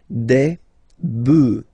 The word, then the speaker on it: bœufs: this s, but then pronunciation changes quite much, because you get des bœufs, all right?